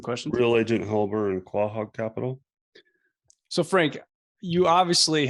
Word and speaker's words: Quahog: I know that you have a company, and I'm probably going to botch how you pronounce it. Quahog? How do you say it? Quahog Capital.